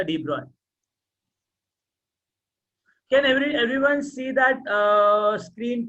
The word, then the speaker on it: de Broglie: कौन सा de Broglie?